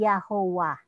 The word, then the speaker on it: Jehovah: May mga dumating na mga German na hindi nila mabigkas yung Y, no, at saka yung H. So naging Jehovah, yung Y at saka W. So kaya naging Jehovah siya.